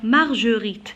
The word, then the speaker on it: Marguerite: Marguerite. Alors pour prononcer le G, j'ajoute toujours le U.